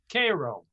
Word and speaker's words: Cairo: turn of the century the main town was cairo uh which is a city on the mississippi now it's not pronounced cairo down there it's called cairo naturally naturally and and i was i